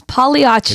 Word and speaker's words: Pagliacci: It's Pagliacci's. It is Pagliacci's. The G is silent on that one.